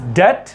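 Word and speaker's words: debt: कौन से silent letters? B silent letters. So this is डेट, डेटर, subtle, डाउट, lamb, लिम, डम, थम, climb, वुम।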